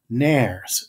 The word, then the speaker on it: nares: The name that we give these two holes is nares. It's helpful to know that the world rhymes with fairies.